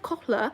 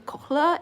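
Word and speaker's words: kohl: you can use Luna have you heard of KLA it's spelled k o l it's from the Middle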